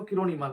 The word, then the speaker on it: किरोड़ी मल: college है तो आप ही लोग अधिकांश लोग करोड़ी मल ही समझते होंगे कि करोड़ी मल कॉलेज क्योंकि हमारी फ्लो फ्लो में वो करोड़ी मल ही बन चुका है लेकिन वो उसका जो सही उच्चारण है वो किरो मल है क्योंकि करोड़ से मिलता हुआ है तो उसे थोड़ा डिफरेंट